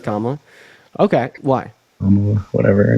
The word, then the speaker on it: Kamala: Kamala, her name's pronounced Kamala.